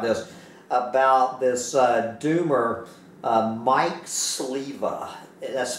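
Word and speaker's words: Sliwa: About this doomer, Mike Sliva. That's spelled S-L-I-W-A. Mike Sliva, he used to be the right-hand man of that person we don't talk about here on this channel.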